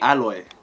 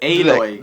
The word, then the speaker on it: Aloy: I said alloy. Her name is Aloy.